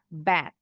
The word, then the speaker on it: bad: Bad. Bad. Hati-hati T beda dengan D bukan bad. Kalau kita pakai D biasanya tuh bunyi A-nya agak panjang.